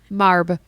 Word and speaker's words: Marbh: Marb. Why is the H there? The H is silent.